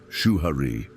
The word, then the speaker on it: Shuhari: Shuhari. 3 syllables, 3 stages, an invisible cycle of learning that crosses time, culture, and craft.